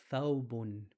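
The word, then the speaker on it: ثوب: Something you guys may be recognizing or used to, the word thawb, which is the long dress the imam wears. Thawb. It starts with a tha.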